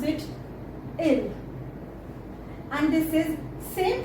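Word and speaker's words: ils: like you know he in plural so we pronounce it ill and this is same pronunciation L as we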